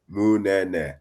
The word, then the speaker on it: Munene: Just think Munene. There you go.